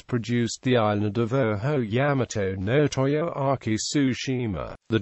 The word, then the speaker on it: Yamato: The usual Japanese reading of would be Sanseki in Sino-Japanese Onyomi or Yamato in native Kunyomi.